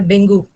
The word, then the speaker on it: dengue: अगर मैंने लिखा डेंगू, इसका करेक्ट प्रोनाउंसिएशन है डेंगी, डेंगी होता है, ओके। हाँ, डैट का प्लूरल दो, डेंगी डेंगी बोलते हैं, लेकिन सारे लोग आधे से अधिक डेंगू बोलते हैं ना, तो सबको डेंगू ही बोलना पड़ता है।